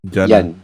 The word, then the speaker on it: Jana: but we call him Jana. Yana. J, so, they pronounce it Y.